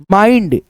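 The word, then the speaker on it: mind: आधा न ड फाइंड जैसे एम आई एन डी माइंड मिड नहीं पढ़ना है मा ई उसके बाद से आधा न ड माइंड जैसे बी आई एन एंड डी बाइंड क्या पढ़ेंगे?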